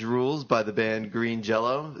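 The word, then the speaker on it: Jellÿ: by the band green jello spelled green jelly but the y has the two umlauts on top of it which makes it pronounced oh for the jello um we would like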